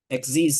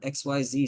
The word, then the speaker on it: Xyz: I mean at least I understand exes summoning right that's how you say it no that's right you're very good yay I didn't call it XYZ summoning I you had to